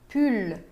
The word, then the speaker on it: pull: Pull. Sim se pronuncia o L final.